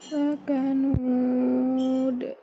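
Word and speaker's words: لكنود: Maka kita pada riwayat Hafiz an Asim dari jalur Satibiyah itu tidak memakai hamzah pada ujungnya. Jadi bacanya seperti apa? Lakanud. Lakanud. Ini lebih baik.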